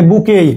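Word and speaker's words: bouquet: উই মেট মেধা দেখেন carrying carry a বুকেই উচ্চারণ কিন্তু বুকে বি ইউ ইউটি এটি এর উচ্চারণ হয় না এটা ফ্রেঞ্চ থেকে সাইলেন্ট বুকে অরোজেস রেড রোজেস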